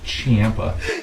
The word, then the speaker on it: Ciampa: Champa. I hate when people pronounce his Ciampa. name Ciampa. Yeah. I hate that. That's not his name.